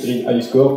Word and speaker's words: Greeniscore: Alors, je prononce Green iScore comme iPhone, iPad, etc.